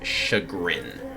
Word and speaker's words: chagrin: I've read that Chagrin it's shagrin which is like humiliation um so cycle I